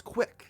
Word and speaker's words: CWC: version of kwik's pokesite cwc are the initials of christian's full name which he is unusually proud of due to its ability to be pronounced as quick this webpage would only